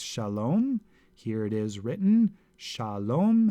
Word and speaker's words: Shalom: here it is written Shalom has two consonants or two two syllables the first syllable sha is open it ends in a vowel the second syllable lomé is closed because it ends with a consonant let's look at another